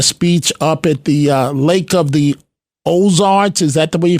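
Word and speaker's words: Lake of the Ozarks: ago delivering a speech up at the uh Lake of the ozar is that the way you pronounce it Lake of the ozar yeah yes so yeah I you know I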